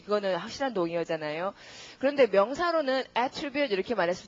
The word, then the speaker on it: attribute: 동사일 때는 강세가 어느 쪽에 오고 동사일 때는 강세가 뒤에 오고 명사라면 앞에 오고 이럽니다. 근데 명사와 동사의 뜻도 많이 다르니까요. 우선 동사부터 이렇게 해서 동사가 더 쉬우니까 발음은 attribute 구조가 attribute A to B 이런 구조. 명사라면 맨 처음에 강세가 옵니다. 그러니까 A 스펠링 강세가 받으면 발음을 어떻게? attribute 이렇게 됩니다.